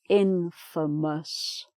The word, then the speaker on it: infamous: If something or somebody is infamous, and the pronunciation changes a little bit, the pronunciation of the A, famous, but infamous. So the A vowel sound changes.